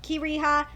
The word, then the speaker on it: Kira: Kira's uh name wrong I said karaha it's kha or Kira I'm sorry I fucking butchered it I guess I was reading the fucking manga wrong so there you go it is uh Kira and so far like